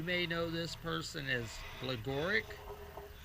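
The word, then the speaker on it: Gligorić: And you may know this person as Gligoric. And I've heard in one of the videos, Kasparov, Gary Kasparov, pronounces it Gligorich.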